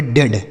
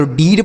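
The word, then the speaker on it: dead: अब इस इ ए का उच्चारण ए की मात्रा होगा। डी से ड तो इसे हम पढ़ेंगे डेड। ना तो डीड पढ़ेंगे ना तो डीएड पढ़ेंगे।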